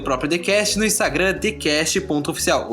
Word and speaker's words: D.cast: E também não se esqueça de seguir o próprio TheCast no Instagram, thecast.oficial. O D é mudo, lembrando todos.